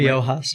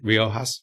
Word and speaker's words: Riojas: And one of the cases that you took was this case, Taylor versus Riojas. Am I pronouncing the second name? Riojas. Riojas.